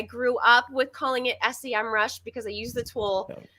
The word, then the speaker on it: Semrush: he wants to know is it pronounced s-e-mrush or semrush and it is officially as of last or two Decembers ago semrush there's a whole video